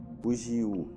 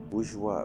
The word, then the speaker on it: bourgeois: Oh, is it pronounced Bouja? Okay. Bougie. Bougiou. Bougiou? Bourgeois.